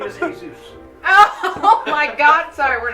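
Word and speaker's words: Heyzeus: his last name is Zeus No no no like Jesus his name is Jesus it's spelled h e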